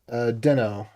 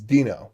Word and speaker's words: Deno: Okay, thoughts on Node versus Deno. That's the way they pronounce it, which is wrong. The way I pronounce it is Dino, which is correct, because it's obviously correct.